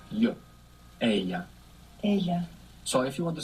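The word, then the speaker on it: ella: l l a dou l in Spanish is pronounced y a so if you want to say she sees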